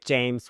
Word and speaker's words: James: If he was born on the same day with James, what? Let's call him James. But the way that Thai pronounce words, we don't pronounce the last consonant so much.